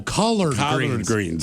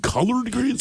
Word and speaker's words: collard greens: Oh, collard greens. yes. Collard greens. Not the colored kind.